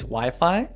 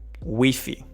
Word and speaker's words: Wi-Fi: Okay, so in English, Wi-Fi, right? I don't know in other languages, though. Let me know in the comments if in your language this pronounced differently. In Spanish, can you guess? Wi-Fi Wi-Fi Wi-Fi There you go.